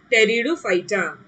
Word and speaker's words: Pteridophyta: Pteridophyta, don't say Pteridophyta, huh? P is silent. Theek hai bachcho, yaad rakhna, P is silent. So it is Pteridophyta.